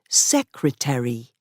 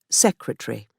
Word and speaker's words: secretary: Webster also influenced American pronunciation by saying that each part of a word must be clearly pronounced. For example, secretary, not secretary.